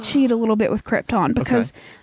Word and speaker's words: Krypton: the locals actually say Krypton, but it's Krypton. It's spelled Krypton, and if people could pronounce things properly, it'd be Krypton, but yeah. the locals do call it Krypton.